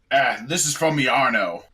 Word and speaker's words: Iarno: The whole It says, "This is from Yarno," which is spelled IARNO.